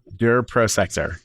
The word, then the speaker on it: Prosector: Prosector.